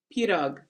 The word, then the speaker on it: pirog: pirog There is we go.